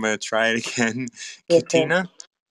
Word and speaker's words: QuoTina: I'm doing well and um I know I've pronounced your name right before I'm gonna try it again CA cotina cotina okay good I I I for some reason